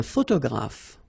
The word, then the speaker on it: photographe: So here, PH, and here, PH, pronounce it like F, f, f, f. Photographe.